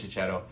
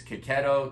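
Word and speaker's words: Checchetto: fantastic Jonathan Hickman maros chetto um I don't know if I'm ever pronouncing Marco Chet's name right I've had comments telling me it's ketto cetto um I'm going to with ketto Marco ketto I'm I'm sorry if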